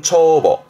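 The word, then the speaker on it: 帳簿: 뒤가 문서 부자인데 이게 장부, 발음은 초보, 초보.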